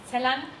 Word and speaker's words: Celan: toll, weil ursprünglich der Name richtig ausgesprochen ist, Celan, also wie Celine im Französischen vielleicht, aber es ist Celan, das ist ein sehr weicher Name. Und in Deutschland macht man natürlich ein Z daraus und ein Spurenelement, daher